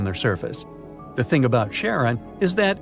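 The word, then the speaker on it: Charon: Sticks, Nyx, Keraros, Hydra, and the most mysterious one, Chiron, also pronounced Sharon. So, you can pronounce it however you like. I'm going to go with Sharon.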